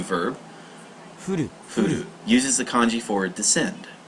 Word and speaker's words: 降る: If you hear it pronounced as furu, to precipitate, to fall, as in rainfall.